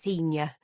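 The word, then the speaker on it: Synyer: Strange spelling, but it's pronounced senior.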